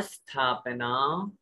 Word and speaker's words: स्थापना: नाम स्थापना, नाम स्थापना। देखिए सामान्य रूप से अगर आप स्थापना बोलोगे तो वो ई लग जाएगा आगे, और ई लगने के कारण से शुद्ध उच्चारण नहीं होगा।